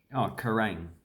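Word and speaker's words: Kerang: Then there's, Kerrang. So you just say rang. Like I rang the doorbell. Rang. That's basically it.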